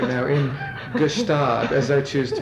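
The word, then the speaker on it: Gstaad: Jacuzzi right now in gustab as I choose to pronounce it I know most people don't pronounce the G but I do because I'm Different well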